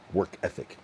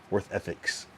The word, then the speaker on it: work ethic: Work ethics. You know what I mean? Work ethics. Yeah. There's no S. It's just work ethic.